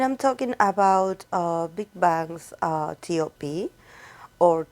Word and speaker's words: T.O.P: And I'm talking about Big Bang's T.O.P or Top, like I like to call him. I know a lot of people refer to him as T.O.P, and I think that that's the correct pronunciation of his stage name.